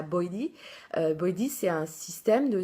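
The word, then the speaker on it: BYOD: Et ben, par exemple, au Canada, il y a ce qu'ils appellent le BOID, enfin on prononce ça BOIDI.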